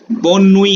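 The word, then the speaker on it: bonne nuit: बोनुई है BO, बो और आधा न पूरा ना, बोनुई रिचा, बोनुई पापा, ये गौर से कंठस्थ कर लीजिए किस तरह से मैंने लिखे हैं।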